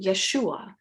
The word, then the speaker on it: Yeshua: We like to accent the U, Yeshua.